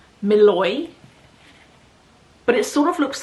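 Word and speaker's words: Mluy: Okay, apparently it's pronounced Malloy. But it sort of looks like M L U Y. M L U Y, but it's Malloy.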